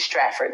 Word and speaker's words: Stratford: That's how you pronounce it, Stratford, New Jersey.